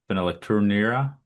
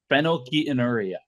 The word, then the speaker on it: phenylketonuria: I know this because I want you to try and pronounce this. Phenylecturia. God, that's an insane word. What is that? You fucking idiot. Phenylketonuria.